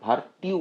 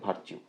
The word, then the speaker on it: virtue: তারপর দেখুন আছে ভার্চু VIRTUE ভার্চু, কীভাবে লিখবেন ভিআর হুক টি স্ট্রোক এর সাথে ইউ যোগ করুন, ভার্টিউ উচ্চারণ যেহেতু হচ্ছে সেটাতে ভার্চিউ।